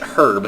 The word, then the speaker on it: herb: herb or is it herb? I know that in Europe they pronounce it herb, and I know in the US they call it herb.